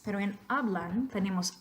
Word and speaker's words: hablan: La penúltima sílaba en la palabra hablan es A. ¿Es cierto? Pronunciación correcta, hablan. Sí, no es hablan, sino hablan.